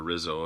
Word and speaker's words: Rizzo: I've needed Pedro Rizzo, or Rizzo if you're an American. In Portuguese, they don't pronounce the R's that way. I think they do it with an H.